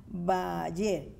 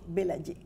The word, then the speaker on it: Bellayer: los nombres franceses, pero Alexandra Bayer, espero que lo pronuncie bien. Gracias, Alexandra Bayer. Ok, Belayé. Y también tenemos al representante de la Agencia Francesa de Desarrollo en Costa Rica.